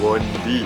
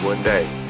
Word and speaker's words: Bondi: Yes, I know the pronounciation is not "bon-dee" instead it's "bon-die" I only know when I arrived there. Fortunately my friends told me.